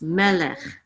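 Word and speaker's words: מֶלֶךְ: another one my leg so remember it's when there's two seagulls which one gets to accent the first one right so it's melet melet melet and what does melis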